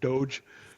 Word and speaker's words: DOGE: And I call it Dodge on purpose. All right, I know a lot of people out there are pronouncing it Doge, or Doge or something like that, but I call it